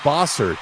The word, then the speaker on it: Bossert: and by the way my last name is bosard bosard bosard you you were giving the F you were giving the French pronounce uh pronunciation the Canadian to me I always tell people